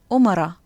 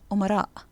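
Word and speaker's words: أمراء: which becomes asha or another word we heard today was omara the plural of amir prince which should really be omara so that's enough for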